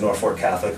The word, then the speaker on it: Norfolk Catholic: Norfolk Catholic is actually four syllables. We say it as five syllables. Four syllables, Norfolk Catholic, on the football field.